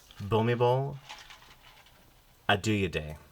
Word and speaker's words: Bhumibol Adulyadej: Yeah, how are you going to pronounce this? Tell me. Bhumibol Adulyadej.